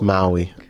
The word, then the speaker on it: Maui: her people this mov I think it's just pronounced Maui Mai Maui okay Mo no just just Maui just Maui okay I love this film like this film